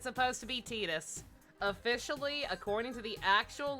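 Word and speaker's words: Tidus: with titus and yes it's supposed to be titus officially according to the actual lore his dave is indeed it is indeed supposed to be pronounced titus but japanese is dumb when it comes to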